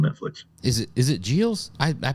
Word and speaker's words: Gilles: that up on Netflix is it is it JS I I pronounce it g yeah Ralph JS yeah all right well there's I I I